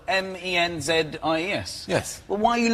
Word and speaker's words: Menzies: Mingus, yes. Goss. Yeah, Mingus. Yeah, but it's pronounced... It's spelled M-E-N-Z-I-E-S.